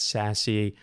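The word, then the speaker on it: SASE: in that space uh sas or sasc a lot of people pronounce that sassy stands for secure access service edge gartner says that 40 of enterprises will adopt uh sassy by 2024.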